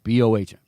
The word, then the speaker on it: Bohm: Alec Bohm, Bohm. Haven't you ever heard of the scientific unit ohm? Now, if it was spelled Baum, okay, that's Baum or Baum or it's Bohm. Anyway, I should change it to spell it Bome.